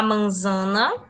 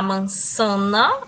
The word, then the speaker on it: manzana: La manzana. Ou la mansana. As duas pronúncias estão corretas.